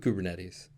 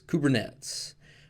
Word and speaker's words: Kubernetes: equivalent to being wrong so stick with kubernetes now one other pronunciation that I have heard is kubernetes this one I'll just go ahead and say is definitively wrong you'll probably be pegged